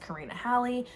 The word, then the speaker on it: Karina Halle: karina halley i figured out her name is pronounced karina halley the first book is called um darkhouse and